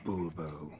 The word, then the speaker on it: Bourbeau: Fine, Monsieur de Bourbeau. The emphasis falls on the last syllable.